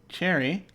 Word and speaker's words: chary: The dictionary says it's pronounced cherry, and it's an adjective, cautiously or suspiciously reluctant to do something.